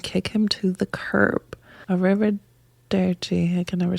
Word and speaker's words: Arrivederci: Arrivederci. Arrivederci. Arrivederci. Arrivederci. It's Nicely easier done. to say it when you roll your R's.